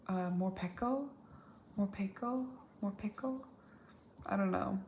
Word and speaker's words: Morpeko: Like more like Pico de Gallo, but I guess if it's spelt this way in Japanese, wouldn't it be pronounced Morpeko?